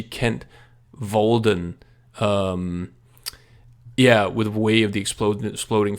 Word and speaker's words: Kent Walden: I have picked out something I feel is similar in spirit, which is Kent Walden's, even though people always pronounce him Kent Waldian, but I never see Kent Walden.